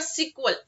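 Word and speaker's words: SQL: एसक्यूएल structure query language एक तर त्याला एसक्यूएल म्हणतात किंवा सिक्वल असं म्हणतात ओके जर तुम्ही YouTube वरती असे व्हिडिओज बघितले तर काय काय असे सिक्वल असं त्याच प्रोनन्सिएशन करतात पण जनरली तुम्ही एसक्यूएलच करा ओके सो आता एसकल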